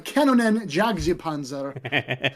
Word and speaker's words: Kanonenjagdpanzer: Did I pronounce that right? Was that pretty good? Or? Yeah, it was pretty good. It's the Kanonenjagdpanzer. Okay. Yes, but it's I don't blame you. It's quite accurate, and don't get me